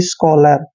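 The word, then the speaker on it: scholar: स करते हैं और जहां पर सी एच के बाद ओ आता है तो सी एच का उच्चारण हम क करते हैं और ओ को हमने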